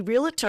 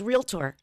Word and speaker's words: realtor: you know what Taye I used to say realator and someone said to me no it's realtor oh really yes I